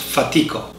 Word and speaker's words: Fatico: to the fatigue brothers improper italian their last name would be pronounced fatico and their nicknames were